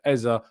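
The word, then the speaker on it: Eze: that I hope that Eza appreciates the fact that I say Eza because that's what he said.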